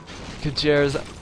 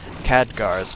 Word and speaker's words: Khadgar: Kajir's Pipe of Insight, okay, or not Kajir's, Khadgar's Pipe of Insight. Well, I've always pronounced it Kajir, but ever since I've watched the movie, I was like, oh wait, that's Khadgar.